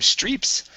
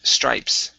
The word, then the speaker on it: stripes: This one here, this is a long I sound. Instead of streeps, it's stripes.